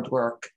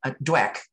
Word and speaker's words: Dweck: a woman out of stanford dr uh carol dwerk and dweck d-w-e-c-k it's hard to pronounce her name and she um found that